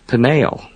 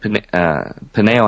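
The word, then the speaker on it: Peniel: jacob names that place pineal uh p-e-n-i-e-l slightly different spelling to nail almost identical pronunciation could be just a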